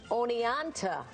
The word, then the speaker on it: Oneonta: But his videos are helping bring attention to the town of Oneonta in Alabama. I hope I pronounced that right.